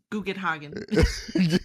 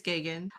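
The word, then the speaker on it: Geoghegan: wrong cuz Yeah, I would have pronounced it as Guggenhagen. Yeah, like it was something like that, bro. That's that's a that's a cool pronunciation for that spelling. Oh, but apparently it's gagan.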